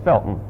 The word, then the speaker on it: Felton: felton but if you're from there you don't pronounce the harty it's felton oh i thought that was a connecticut thing